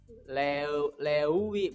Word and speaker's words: leuwih: Nah, nulisnya e dan u, dibacanya e. Kalau menemukan e dan u, kamu baca dengan cara baca e. Jadi bacanya bukan lewi, bukan, tapi lewi.